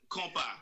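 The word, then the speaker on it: Kompa: I mean, it was, am I pronouncing this right? Compa? Is that how you? Yes. Yeah. Compa.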